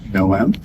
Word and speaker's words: Noam: It's pronounced Noam? Noam. Noam. Noam. It's like Noah from the Ark with an M in the end.